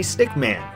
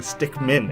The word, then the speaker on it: Stickman: see from behind Henry Stickman actually took me a couple takes to get it right I'm so used to saying stick men at this point playing